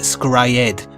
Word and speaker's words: Scryed: And there's also another short anime I really enjoyed called Scried, although they pronounced it Scryed.